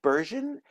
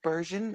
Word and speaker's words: Bergen: North Bergen? I'm like, no. We Like were Ron colonized by the Dutch, Burgundy. not the French. Not the French. The Dutch took over here. So everything is a hard G.